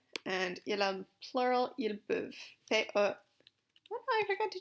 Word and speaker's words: peuvent: And il a plural, ils peuvent. P-E. Oh, I forgot to change colors. On va les faire en bleu. P-E-U-V-E-N-T. Peuvent, again, E-N-T is silent.